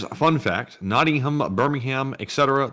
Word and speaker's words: Birmingham: a fun fact Nottingham Birmingham Etc the ham is pronounced um in the UK due to how we